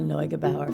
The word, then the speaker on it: Neugebauer: all going talk about your wonderful director Layla NOAB Bauer finally I mean we can say her name